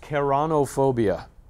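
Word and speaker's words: ceraunophobia: Okay, so this is pronounced keranophobia.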